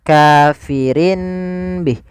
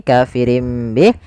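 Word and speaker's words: كافر به: Awalnya kafirin bih karena dia ganti suara nunnya, kafirin bih diganti dengan huruf mim. Kemudian ketika kita melafalkan ini kafirim bih, itu sebenarnya ada 2 cara baca. Yang pertama dengan itbaq, yang kedua dengan suara furjah. Tapi kita mengambil yang itbaq saja, yaitu bibir kita tertutup dengan rapat.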